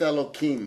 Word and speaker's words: Elohim: different here's Congregation Beth Elohim the congregation pronounces it with an H we pronounce it with a cut sound so that we do